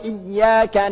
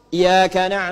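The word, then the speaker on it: إياك: tahu Iya karena budua iyyaka nasta'in dia sengaja enggak pakai pakai tasydid ya Kana Budu maka satu berdosa dia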